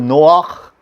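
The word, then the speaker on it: נֹחַ: Noah, okay, is pronounced in Hebrew Noach.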